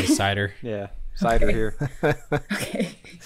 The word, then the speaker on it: CIDR: How do you pronounce that? I've heard it so many different ways, guys. I would say CIDR.